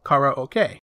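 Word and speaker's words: カラオケ: would be karaoke or how it's pronounced in japanese kara okay a blending of the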